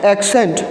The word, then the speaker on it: accent: है उसका जो साउंड होगा वो क्या होगा, क साउंड होगा। ओके, एंड जो दूसरा वाला सी होगा उसका साउंड क्या होगा, श साउंड होगा, उसका साउंड क्या होगा, स साउंड होगा। सो the pronunciation of this word is एक्सेंट।